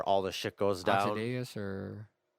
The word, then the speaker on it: Ozymandias: Ozymandias or how do you pronounce Yeah. it? I think it's Ozymandias.